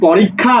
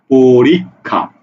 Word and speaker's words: পরীক্ষা: খ আকারে খা পরীক্ষা এবার দেখো এই যে যুক্তবর্ণটা যখন শব্দের শুরুতে আসছে তখন উচ্চারণ হইছে খ অর্থাৎ এখানে উচ্চারণ হইলো খ শুরুতে ছিল আর যখন এই যুক্তবর্ণটা শব্দের মাঝে ছিল তখন সেটা উচ্চারণ হইছে কি ক খ এই যে দেখো র